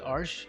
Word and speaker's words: Arches: Many people call it arches, but I think the e s at the end is silent.